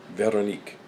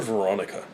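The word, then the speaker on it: Véronique: Now, I am uncertain how she would pronounce her name, but since it looks French to me, I'm pronouncing it in French, Veronique. For those who are... okay, here it is. For those who are American and have no capacity for other languages, call her Veronica.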